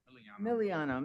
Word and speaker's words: Miliano: Mr. Milano, you I'm sorry I'm mispronouncing your your name. Miliano. Mr. Milliano, uh you mentioned that you have multiple uh business addresses, correct?